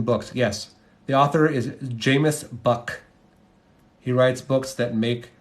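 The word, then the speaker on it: Jamis Buck: can the book is the author is Jameis buck j-a-m-i-s buck it rhymes with Rook or tuck do I need a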